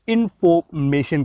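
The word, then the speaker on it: information: इंफॉर्मेशन को British accent में इन्फॉर्मेशन कहा जाता है। यहाँ पर जो इनफोर ओ आर जो साउंड है इसको साइलेंट या एक रिसीव्ड प्रोनाउंसिएशन या लिंग्विस्टिक में अगर हम देखें तो वहाँ पर एक श्वा की साउंड होती है साउंड, तो ये वो वाली साउंड है, यानी इन्फॉर्मेशन आर को यहाँ पर साइलेंट किया गया है।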